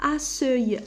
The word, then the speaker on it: accueil: Alors كون درنا الاو هي الاولى نقولوها accueil. Alors accueil هذا لو مو il n'existe plus. Alors pour prononcer la lettre C, K, alors il faut renverser les lettres.